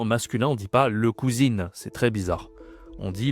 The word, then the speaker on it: cousin: Donc ensuite, c'est comme en anglais ici, le cousin. Attention, la prononciation, c'est une nasale, hein. Un le cousin.